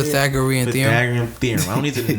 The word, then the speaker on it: Pythagorean: Pythagorean theorem.